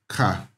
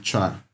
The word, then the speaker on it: char: Now, the next one I want to talk about is char, or some people call it char.